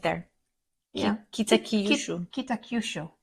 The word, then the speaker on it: Kitakyushu: Kitakyushu. Kitakyushu. Kitakyushu.